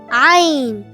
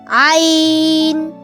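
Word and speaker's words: عين: Hi, my name is Ain. Ain. Ain. You can spell it in English as E-Y-E-E-N with a specific sound, Ain. It sounds like I and in sound, Ain.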